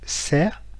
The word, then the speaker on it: xe: La lettre E, écrit en français, ne se prononce pas E en vietnamien, mais se prononce R, comme un air, l'air que l'on respire, sans pour autant prononcer la R finale. Et l'exemple ici, c'est le mot serre, qui veut dire voiture.